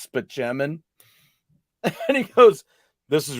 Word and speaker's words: Spaceman: Spaceman, but it's actually pronounced Spaceman.